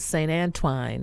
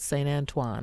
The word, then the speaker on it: St. Antoine: Farnsworth between beaubien and st. Anne twine that's what I grew up understanding but st. Antoine I found out is it is the proper pronunciation so the church was